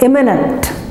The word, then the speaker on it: imminent: So the accent is on the first letter or the first syllable, imminent, right?